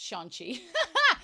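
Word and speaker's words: xiangqi: The advisor piece is present in the Chinese version of chess called zhangqi, pronounced shanqi, and is otherwise known as the gentleman or scholar.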